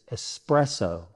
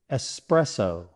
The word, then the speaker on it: espresso: The correct pronunciation is espresso. So let's break it down. S, press, rhymes with dress, so. Put it all together, espresso.